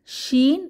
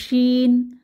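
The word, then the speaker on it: شين: এরপর শিন, 3 দাঁতের উপর 3 নুক্তা, এই হরফটির নাম হচ্ছে শিন। শিন জিহ্বার মধ্যভাগ তার বরাবর উপরের তালুর সাথে লাগিয়ে আওয়াজ ছড়িয়ে পড়বে, সা সা আওয়াজ মুখের চারপাশে ছড়িয়ে পড়বে, এটাকে তাফাশি বলে।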